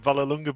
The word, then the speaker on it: Vallelunga: are we doing steve uh pleased you said valar lunga before i did for pronunciation thank you very much yeah interesting circuit